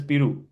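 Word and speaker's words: पेरू: In Hindi, it's called Piru, Peru, and you pronounce it as Piru.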